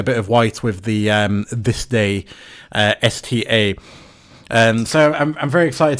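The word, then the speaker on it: DSPIAE: I compared it to my Despie, or well, it's not Despie, it's This Day, is how it's officially pronounced.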